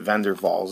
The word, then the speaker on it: van der Waals: way we pronounce it vendor Falls it's another German Dutch pronunciation where we've got a